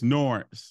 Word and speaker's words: Norense: But it's Norense, like Lawrence, but with an N.